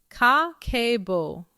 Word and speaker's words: kakeibo: In Japanese, that word is kakeibo, pronounced ka-ke-bo.